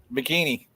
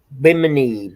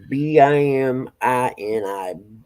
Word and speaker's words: Bimini: He said, "Say Bimini again." Bikini. I'll try. Benjamin. Did I not say it right again? Yeah. I'm going to say bikini because that's what J-Dog called it. Bimini, B-I-M-I-N-I, Bimini. We're gonna Bikini.